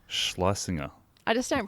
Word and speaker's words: Schlesinger: She does a lot of, she has, I'm trying to like, it's pronounced Schlesinger.